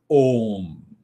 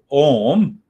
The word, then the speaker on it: Om: a detailed account of om how to meditate on ohm so this ohm contains three syllables a u means you and m a u ma so these three syllables